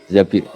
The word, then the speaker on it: Zabir: Di hadis ini bukan bacanya bukan Zubair tapi Zabir, Abdurrahman bin Zabir.